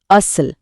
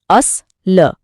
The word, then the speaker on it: असल: सही शब्द है असल जिसका उच्चारण है अस ल। यहां अस लंबा है और ल छोटा। तो इसका वजन हुआ दो और एक यानी टू वन। लेकिन अगर हम इसे गलती से असल बोल दें तो वजन पूरी तरह